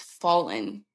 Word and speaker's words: Fallyn: like, "By the way, it's fallen." Like, think of a fallen angel.